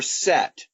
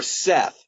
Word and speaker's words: Seth: by his his brother set or Seth s eth sometimes you don't pronounce the H sometimes you do anyway set is the